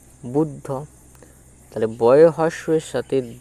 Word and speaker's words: বুদ্ধ: এখানে আবার যে দ তাহলে এই বুদ্ধ এই বানানটা দেওয়া আছে বুদ্ধ এক্ষেত্রে বয় হস এর সাথে দ উচ্চারিত হবে বুদ্ধ বুদ আর ধ হ হ হ হ হ